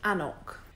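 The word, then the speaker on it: anCnoc: And by the way, yes, it is pronounced Annock.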